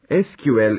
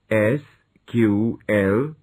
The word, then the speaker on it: SQL: functions manage multiple tables SQL introduction SQL is the abbreviation of structured query language it is pronounced as s ql or SQL it has become a